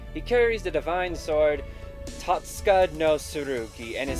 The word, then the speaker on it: Totsuka: So it's probably Totsuka, like that. So, sort of like that, but not Todd. It's Tote, like a tote bag.